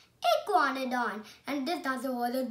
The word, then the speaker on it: Iguanodon: This dinosaur is a iguanodon. I'm going to tell you how to pronounce it. Iguanodon. Iguanodon.